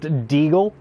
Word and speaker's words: deagle: We don't call them desert eagles when they're gold. It's pronounced deagle.